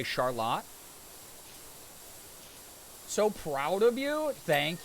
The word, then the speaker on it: Charlotte: We have a suburb here called, spelled like Charlotte, that we say Charlotte.